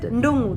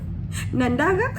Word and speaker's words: Ndongo: I'm telling you to pronounce it Ndongo. They say Nandaga.